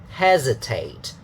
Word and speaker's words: hesitate: Hesitate. So you see that is here, and then dot dot. So 2 more syllables. And pay attention that it's not an S sound, but Z.